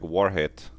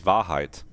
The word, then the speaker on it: Wahrheit: I would have almost expected it to be like Warhead or something. No, this is Wahrheit.